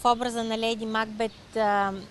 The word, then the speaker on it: Макбет: в образа на Леди Макбет, Макбет е истински правилния начин да се казва, но на български е прието Макбет, затова така и аз казвам Макбет, но по принцип ударението идва на Макбет.